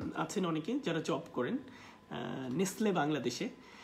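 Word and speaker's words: Nestlé: অনেকে যারা জব করেন নেসলে বাংলাদেশে তো এটা আপনার উচ্চারণটা ঠিক রাখতে হবে এটা হবে নেসল this is নট দ্য নেসলে নেসল আপনি দেখেন ফোনেটিক সিম্বল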